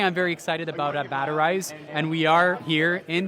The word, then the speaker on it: Batterize: Yeah, so I'm the CEO of Batterize, and that's spelled like battery, Z-E at the end.